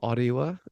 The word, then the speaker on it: Orewa: So I'm in a lovely place called Orewa or Orewa, as it's pronounced.